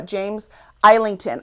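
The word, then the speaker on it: James Islington: Will of the Many, uh, James Eington.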